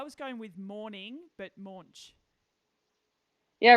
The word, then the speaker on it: Moench: up live from Skye Moench? And I am saying that right? Yeah. Moench? Yep. Rhymes with launch. Yeah. Oh, okay. I was going with morning, but Moench.